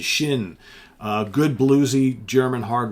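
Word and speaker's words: Schinn: going to germany 1972 i never know how to say the name of this band de shin d is in david s c h i n n d shin uh good bluesy german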